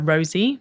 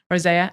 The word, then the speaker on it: rosea: So previously, Rise was Bacopa Monnieri, Rhodiola Rosie. Is that how you pronounce it? Rosea, and Alpha GPC.